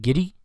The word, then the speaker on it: Giddey: on April 9th, Josh, how do you pronounce it? Giddey? Is that how you say, Danny? Yes, sir. Josh Giddey.